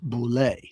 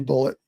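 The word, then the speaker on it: Bulleit: Yeah, and I always thought it was pronounced Boulet, but in the movie, it's pronounced Bullet. It is Bullet.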